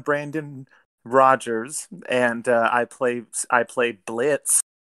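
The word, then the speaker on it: Blitzø: Well, I'm Brandon Rogers, and I play Blitz. The O is silent, and and I play a multitude of other characters on YouTube.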